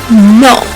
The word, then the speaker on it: no: or Planet C no in Spanish is no no basically the same thing but the O doesn't have a u sound at the end so no oh my